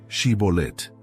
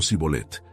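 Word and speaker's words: shibboleth: Para distinguir a los enemigos usaron una prueba, hacer que los fugitivos pronunciaran la palabra Shibolet. Si la decían como Sibolet, eran reconocidos como efraimitas y ejecutados.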